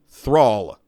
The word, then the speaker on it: Thrall: Thrall, Like wall, but with a Modern Warfare hit marker sound at the beginning.